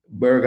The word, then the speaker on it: Burgher: Burger as in hamburger. I think it's spelled with a H, so Burgher.